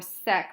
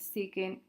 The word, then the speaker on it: secant: want to state that you don't pronounce this kisk or sec or cot. It's cosecant, secant, cotangent. You say the full word.